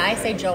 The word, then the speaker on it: Joel: You say it as one or two syllables? Joel. Phil Joel. You kind of say it as one syllable. Yeah, I say Joel.